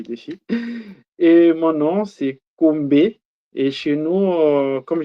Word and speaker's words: Kombe: Euh ça s'écrit comme le défi et mon nom c'est Combé. Et chez nous euh comme je suis des nationalités congolaise, nous avons un postom et le mon nom c'est Kombé et mon postom c'est.